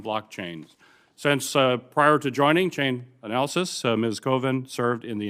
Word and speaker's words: Chainalysis: Our final witness is Jackie Burns-Coven, Head of Cyber Threat Intelligence at Chainalysis, or how do you pronounce that? Chainalysis, Senator.